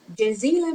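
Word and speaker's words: جزيلًا: We add noon because we have two fatha.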